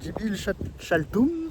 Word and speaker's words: Dzibilchaltún: par la visite de Jibil mer se prononce Jibil Chaltum qui a un petit